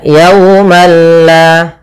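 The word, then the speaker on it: يوما لا: Maka di sini malla maka yaumalla. Tapi perlu diingat bila ghunah berarti tidak disertai dengan gunah sehingga langsung saja tidak boleh ditahan, tidak dibaca yaumal la tidak. Tapi langsung saja yaumalla.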